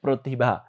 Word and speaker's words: প্রতিভা: তা আমরা যদি দেখি প্রতিভা, আর তোমরা যখন রফলার উচ্চারণের একটা নিয়ম শিখো, যখন শব্দ শুরুতে রফলা আসলে এবং সেটা যদি অকারান্ত হয় তাহলে সেটা ও এর মতো উচ্চারিত হয়, ওকারের মতো উচ্চারিত হয়।